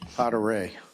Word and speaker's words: Poteray: Very close. Who is here in person? Poteray. French.